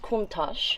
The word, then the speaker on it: Countach: This is how it's spelled, but it's pronounced Countach. This is a word in Italian that cannot be translated directly to English.